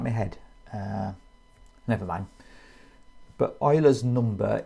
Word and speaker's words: Euler: But Euler was a Swiss German, so it's a German pronunciation of the name, so it's Euler.